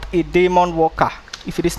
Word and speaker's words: daemon: They call it demon. I I used to pronounce it demon, right?